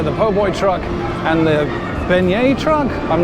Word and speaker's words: beignet: and strawberry there oh there you go pronounced Beignets that was almost right and you also got